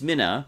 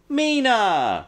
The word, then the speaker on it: Mina: it's pronounced Mina but all but one character pronounced it Mina Mina Mina Mina Mina Mina miss Mina Mina Mina Mina Mina it drove me crazy and the one character who pronounced it properly Mina when she comes in and greets her at